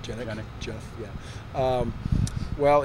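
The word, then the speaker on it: Genyk: Is that how it's pronounced? Genick.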